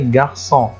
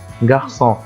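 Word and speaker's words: garçon: جغسون هنا لو لاحظتوا ان حرف الاو مش احدى الحروف الثلاثه بتسمح لي ان انا انطقه لكن ليه نطاتها بالرغم ان الحرف ده مخالف للثلاثه لان وضعت خلي بالكم من من العلامه الصغيره دي تمام ده حرف الاس الصغير ده حرف الاست ايه الصغير فبنقول عليه السداي سداي هو عباره عن حرف اس صغير بيوضع حرف الس علشان ينطق اس طب ده في كل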